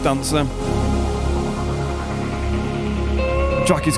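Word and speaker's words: DNCR: This is his collaboration with Dancer, D-N-C-R. I'm assuming that's pronounced Dancer.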